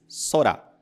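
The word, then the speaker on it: そら: z depois a palavra que significa céu ela se diz sorá sorá nós temos a letra que tem o som de s e a letra que tem o som de raá sorá sorá e por fim a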